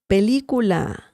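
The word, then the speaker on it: película: okay now La the pelicula pelicula pelicula means movie movie Pula remember the right intonation we have an accent mark as well on the letter i Pula if we didn't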